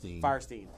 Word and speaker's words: Fierstein: Is it Firestein or Fierstein? Firestein.